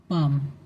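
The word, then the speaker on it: palm: ठीक है, अगला एग्जांपल देखिए, पाम, ये पाम है, तो पी और एम, ये एल लिखा है, ये साइलेंट है, तो आपको ये नहीं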